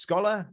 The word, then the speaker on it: Skola: guess scholar and um it's kind of like a like a scholar like as in like